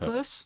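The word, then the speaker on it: Peirce: It comes from Charles Sand Sanders purse. Is it purse?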